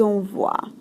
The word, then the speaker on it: envoient: And then ils envoient. Voix, envoie. Et on ne prononce pas le ENT.